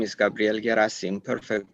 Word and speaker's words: Gherasim: cantes um so again my name is Gabrielle gasim perfect pronunciation of the last name by the way